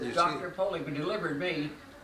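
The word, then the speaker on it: Pollock: I said you Dr poock delivered me poock p o l l o c k poock poock yeah poock way they pronounce it poock I'll tell you you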